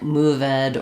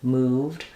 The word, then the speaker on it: moved: the the issue is saying like moveed or calleded instead of called moved um and it will